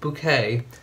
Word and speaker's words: Bouquet: Now, by the way, those of you who love cruising, who may not be acquainted with the lovely Hyacinth Bouquet, spelt bucket, pronounced bouquet, and Richard, notice the hat?